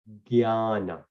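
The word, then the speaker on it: ज्ञान: So remember, usually when we read Sanskrit or Hindi, usually we write from G, but from Sanskrit to English, it's actually J. And the way we pronounce it is jnana.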